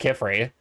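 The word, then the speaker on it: Qifrey: There's no U. I'm pretty sure it's just K. It's It's uh Q I F R Y. I'm pretty sure it's pretty clearly supposed to be pronounced Kefrey.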